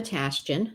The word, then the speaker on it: Tashjian: service to um well my name is tashton that's how you say it everybody wonders how